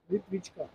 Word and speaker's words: Plitvice: it plit beach or beach sir prit beach prit wika prit wika Yeah that is the the correct pronunciation of this placeit beach ka maganda mag